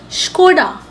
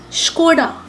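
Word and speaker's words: Škoda: The right way of pronouncing it is Skoda. Skoda.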